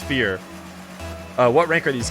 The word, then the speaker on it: Feer: pronounce your name uh it's like yeah it's like the word with an a in it it's fear uh what rank are